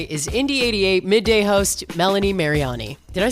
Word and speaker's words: Mariani: my guest today is indy88 midday host Melanie Mariani did I say your name right by the way you know what's funny is that I always say Melanie Mariani but in Italian it's actually mediani so you were right so you're joining me